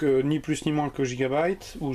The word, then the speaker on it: Gigabyte: Aujourd'hui je vous présente l'osmium, si je le prononce bien, d'Avia, donc ni plus ni moins que Gigabyte, ou Gigabit si on le prononce à la française.